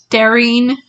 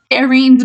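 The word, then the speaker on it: Dairine: off the first time I heard daring and I was like wait who what I don't know I have all of the books in paper back maybe it is daring and I've just been saying it wrong this whole time it's spelled d a i r i n e so maybe hey this this is actually daren's book or daren's book she's the main character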